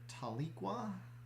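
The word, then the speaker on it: Tahlequah: one looks like it's near taliqua i think is the way that's pronounced where is it that's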